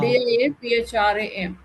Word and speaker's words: diaphragm: Diaphragm. Yeah, diaphragm actually, yes. So even if G is there, it is silent, right ma'am, Suman ma'am?